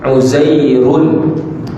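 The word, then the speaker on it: عزير: Jadi Uzairun daripada segi bunyinya, tanwin ini sama macam apa dia? Uzairun seolah-olah macam ada bunyi apa? Macam ada bunyi nun, tapi tak boleh tulis macam ni sebab salah.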